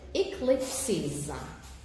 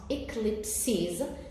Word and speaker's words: eclipses: Now, if I remove the final S, so the E here will not be pronounced. Okay? So you would say eclipse. And then you would have 2 syllables instead of 3. But because there is a final S, we pronounce eclipses. There is an additional vowel at the end, so you count 3 syllables.